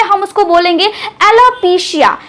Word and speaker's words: एलोपेसिया: हम उसको बोलेंगे एलोपेसिया मतलब इसका उच्चारण कैसे करेंगे देखिए ऐसे तो स्पेलिंग क्या है ए एल ओ पी ई सी आई है तो ऐसे हमें बोलना चाहिए एलोपेसिया नहीं हम बोलेंगे एलोपेसिया क्या बोलेंगे एलोपेसिया तो मेडिकल टर्म में